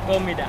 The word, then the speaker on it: Comida: Paano yung pronounce? Comida? Comida.